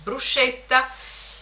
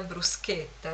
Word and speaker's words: bruschetta: dovete essere esperti di bruschetta che qui si pronuncia bruscetta e la gente non ci crede quando gli dite che si pronuncia in realtà bruschetta le persone non ti